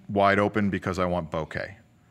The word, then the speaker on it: bokeh: Something called critical aperture, sharpest picture, then wide open because I want bokeh, pronounced bokeh, not bokeh.